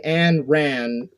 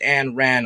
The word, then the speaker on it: Ayn: that is the Warhammer it's pronounced and ran I think okay yeah I